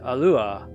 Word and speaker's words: Alua: a-l-l-u-r-e Allure and there is no Ray at the end there is no Katakana Ray so that is an incorrect spelling it's uh just a Lua and I think that's the best way to say her name and if you wanted to spell it uh you know A-L -u-a or you could do a double L I guess a-l-l-u-a alua but no it's not Allure